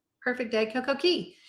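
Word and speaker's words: Cay: Key Perfect Day CoCo Key it's C ye it's Key C but it doesn't rhyme so it makes people uncomfortable Perfect Day Coco K yeah right that rhymes you say tomato I say the locals say key So Perfect Day St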